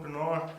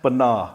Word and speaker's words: Pinar: It's Pinar. Pinar. Pinar. You got to roll the R a little bit.